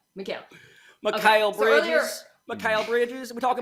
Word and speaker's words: Mikal: It's Mikal.